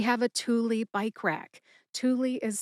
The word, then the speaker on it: Thule: Thule is spelled Thule, Thule.